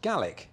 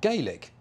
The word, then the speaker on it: Gaelic: Bach also gay league is pronounced gallic in Scotland not Gaelic which is Irish as the narrator said